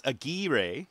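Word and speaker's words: Aguirre: how Paul said it it's a gir but it's spelled a g UI r r e so that's good to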